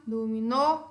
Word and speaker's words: dominó: Dominó, a sílaba tônica é a última e termina em vogal. Então, ela é acentuada.